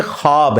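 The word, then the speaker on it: خواب: ख व अलिफ बा लेकिन पढ़ने में यह खवाब है व साइलेंट हो जाता है खवाब पढ़ा जाता है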